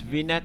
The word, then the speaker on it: vignette: in our color grading i guess v-net is the correct pronunciation for that one but to continue let's